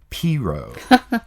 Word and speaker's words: Peru: Peru, the country, versus Peru, Indiana, which they pronounce Piru.